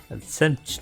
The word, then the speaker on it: Absentia: like Latin or something Absentia yeah absent it's the same R I know what it would mean I just I don't know how to say it I'm assuming it's Latin yeah it's Absentia Absentia I'll use that